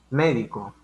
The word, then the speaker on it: médico: Aquí en este caso, pues vamos a partir de que tiene tilde en la sílaba me.